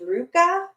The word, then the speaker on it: Luca: Well, to be fair, it may be Luca, but it's pronounced Ruka.